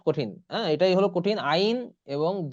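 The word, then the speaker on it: ع: করে নিন আইন আইন আইন আইন একদম ভিতর থেকে আসবে আলী আইন হ্যাঁ এটা যেন ভুল না হয় কারোর সকলে একটু আইনটা কারণ আইনটা অনেক কঠিন হ্যাঁ এটাই হলো কঠিন আইন এবং দ আইন আইন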